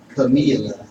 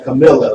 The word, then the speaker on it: Camila: So, Camila, I'm not going to call you that. Okay. I'm going to call you Camilla, but it's pronounced Camila.